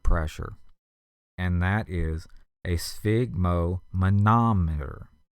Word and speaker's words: sphygmomanometer: and that is a sphygmomanometer. S-P-H-Y-G-M-O-M-A-N-O-M-E-T-E-R. Sphygmomanometer. And it helps if you parse it into pieces to spell it. The sphig is S-P-H-Y-G, mo, M-O, ma, M-A, nom, N-O-M, and then E-T-E-R.